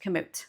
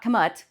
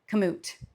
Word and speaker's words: Kamut: and all the people and everything, it is pronounced Kamut. So not Kamut, not Camus, Kamut.